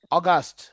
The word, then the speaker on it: August: আর Fatema আগস্ট না, অগাস্ট। উচ্চারণ কি হবে ইংলিশে? অগাস্ট, August.